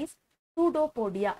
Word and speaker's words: pseudopodia: P is silent here for pseudopodia. P PSUDOPODIA is pseudopodia.